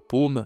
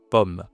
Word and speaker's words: pomme: Et donc là, on a, c'est pas paume, c'est oh, pomme, d'accord? Donc ces mots, tu vas les dire à l'oral, le pain, le fromage, la pomme, et tu vas les utiliser, ok?